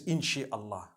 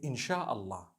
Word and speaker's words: inshallah: in means to create no one says in Allah they say inshallah that's what it is